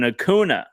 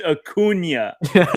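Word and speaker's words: Acuña: never be better than hacuna like three times and then all price harvard does is like it's pronounced acuna he's like you put the tilde over yeah yeah that's all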